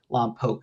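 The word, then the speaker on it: Lompoc: Lamp Poke is how they pronounce it there.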